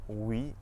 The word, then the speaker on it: oui: OU at the start of the syllable makes a W sound, just like in the words woman and west. Some French examples of this are oui and ouest.